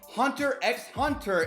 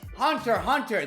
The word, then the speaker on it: Hunter x Hunter: It's like when people say Hunter x Hunter instead of Hunter Hunter. I'm not writing in those comment sections, hey guys, it's Hunter Hunter. The X is silent.